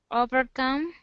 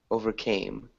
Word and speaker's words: overcame: Overcome. Close. This has a long A sound right here. Overcame.